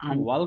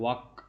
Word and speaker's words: walk: Why our walkways are ওয়াল্ক না, unwalkable? এটার উচ্চারণটা হচ্ছে ওয়াক, এলার কোনো কাজ নেই।